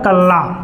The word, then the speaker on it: कला: बी दिया है कला, सी दिया है काला, डी दिया आपका कल्ला। ठीक है, आपका ऑप्शन नंबर जो बी है क्या है? करेक्ट है। कला का शुद्ध उच्चारण कला होता है।